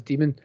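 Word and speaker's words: daemon: called an http and that's demon that's pronounced as demon i don't know why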